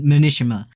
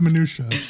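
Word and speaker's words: minutiae: get lost in the minishima yeah but it doesn't do that Machinima yeah and then something stuck to the m has three syllables it's minutia ah you were very close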